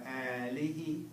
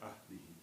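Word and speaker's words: ālihi: I think this is another one of those words I've been probably pronouncing wrong. I think I was pronouncing like ahlihi.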